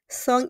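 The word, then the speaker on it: cent: So we start with song song is 100 we pronounce it as song. Song then we have 10 song a song.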